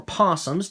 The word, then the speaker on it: opossum: We got opossums. Or possums, depending on how you pronounce it.